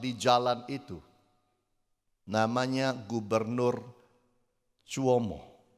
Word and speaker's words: Cuomo: jalan Itu namanya gubernur Cuomo kuomo kali bacanya kuomo Andrew kuomo dan ketika